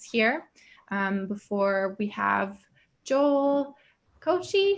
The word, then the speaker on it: Koci: to join us here before we have joel kochi how do you say your last name john